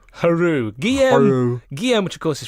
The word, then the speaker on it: Hoarau: Now, how do you pronounce his surname? It's Hoarau. Hello. Haru.